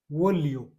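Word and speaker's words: voglio: उसके बाद में वी O plus G एल आई ओ, वी ओ का वो, और जी एल आई ओ इसको कैसे बोलेंगे, लियो, वो लियो।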